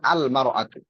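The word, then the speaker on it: المرأة: ইমরাতুন শব্দের শুরুতে যদি আলিফ লাম লাগে তখন উচ্চারণ হয় আল মারাতু বুঝছেন জি কাইফা আলম মারাতু না নাফাতুল কাইফালতু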